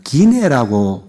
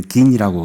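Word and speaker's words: Guinée: 그 기네라고 그렇게 해요. 그걸 불어로 발음하는 것 같아요. 우리는 긴이라고 그러는데 거기에 그 이수프하고 아델린 그 부부가 있죠.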